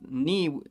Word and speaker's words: ni: as i can tell knee pronounced knee has a little stop little uh separation so you're not saying fluently nissiwa which means i'm a girl they're saying knee with more stress on it neem meaning this so